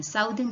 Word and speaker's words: southern: i hear students saying southern hemisphere which is wrong it's not southern though we pronounce it as s-o-u-t-h south but when we add the suffix e-r-n the pronunciation changes so it's southern southern